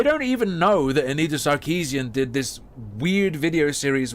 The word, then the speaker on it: Sarkeesian: Samson video say anrita sakian Shi oh and then there was the black guy who was like Anita sh sharian as well no one who likes her can say her name it's Anita sarkeesian why can't her fans